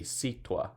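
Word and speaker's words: sitúa: Without the accent, it will be situa, and we don't want it to be pronounced like that. We want it to be situa, 3 syllables, accent on the U.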